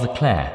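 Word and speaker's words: Leclerc: know that this guy Charles the Clair which you got to pronounce just like that is the ladies man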